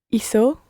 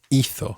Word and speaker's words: hizo: Watch the third person there. It's hizo or hizo. Hizo. It's not hizo. Okay, it's different from some of the other verbs because remember with hablar, we said habló and put the stress on habló. But with hizo, the stress is on the first syllable.